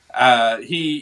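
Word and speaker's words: Kamran: I keep whenever we say Cameron, I think of the rapper. I know, me too. Uh, But that's exactly but how his name is. That's how they pronounce his name. yeah, Cameron.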